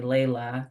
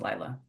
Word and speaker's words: Layla: according to the American perception, it is definitely Layla because it's L Yes. A Yes. L Yeah. A Y, but Mm-hmm. in the Brazilian language of Portuguese, that's pronounced Lila. Yeah.